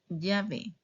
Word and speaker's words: llave: That's la sound similar to Y in English. And the sound is like this. Yanta. Yanta. Yama. Yama. Llave, llave.